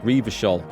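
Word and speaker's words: Revachol: Hang on, it's pronounced Revershol.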